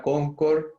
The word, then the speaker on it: Concorde: y pronunció en Toulouse la palabra Concorde con la E.